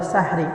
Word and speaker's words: সাহরি: এখানে একটা কথা বলে নেই, সাহরি শব্দটা হবে সাহরি নয়। সঠিক শব্দ হলো, সঠিক উচ্চারণ হলো সাহরি।